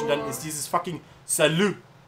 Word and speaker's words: salut: Ich hab fucking Französisch unterrichtet und dann ist dieses fucking Salut. Heißt Hallo und Tschüss. Und da ist ein T zum Schluss. Aber es wird nicht ausgesprochen.